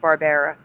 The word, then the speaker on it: Barbera: the nine yeah no Barbera for me with an a like Barbara but it was still pronounced Barbera that's why I put it that way and though says all